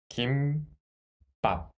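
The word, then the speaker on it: 김밥: Can you read the first syllable? Yes. Kim. There is mu sound consonant in the final consonant, so gi plus mu sound final consonant. Kim. Kim. Second syllable. Can you read it? Yes. Without the final consonant, it is ba, and add the sound of the final consonant, so it is pop. Pop. So kimbap. Kimbap.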